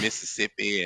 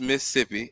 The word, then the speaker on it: Mississippi: See, when you from there, you say Mississippi. We take one of them syllables away. That's how we know that y'all don't be from there. Y'all be saying Mississippi and Mississippi and all that shit.